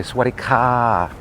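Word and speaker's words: สวัสดีค่ะ: And what I mean by that is women will not say Sawadi ka. They will say Sawadi ka. Okay, ka, like that.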